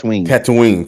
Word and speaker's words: Tatooine: Tatooine. Tatooine. When I got to Tatooine and I got to the Tatooine. Yeah, Tattooing, like tattooing your Tatooine.